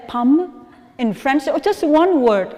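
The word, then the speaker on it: pomme: you know apple in french what it is pronounced palm right but somehow because for vietnamese people when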